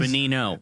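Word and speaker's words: Benigno: He's Bonino. Bonino, but it was spelled with a G. Yeah. You know how you know how gnome has a silent G at the front of it? Same thing.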